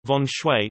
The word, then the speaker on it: Feng Shui: Method of Feng Shui, sometimes pronounced, Von Shui, the practice of melding striking with soothing furniture arrangements to promote peace and prosperity.